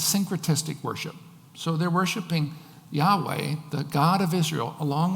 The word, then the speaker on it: Yahweh: And so, we think that it's pronounced Yahweh. When these people were first imported into the land, they started worshiping, they weren't worshiping God at first, but then they started worshiping Yahweh, the Lord.